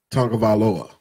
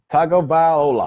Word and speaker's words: Tagovailoa: I can't pronounce his last name. Tagovailoa. I think I got that right. Yeah, Tua Tagovailoa.